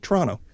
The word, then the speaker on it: Toronto: With all due respect, that is not the right way. Oh. It's Toronto. Yeah. Or you can even say T-O.